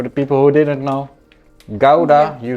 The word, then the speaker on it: Gouda: And I said, the only right way to say Gouda is the Dutch way, Gouda, because it's from a city in the Netherlands.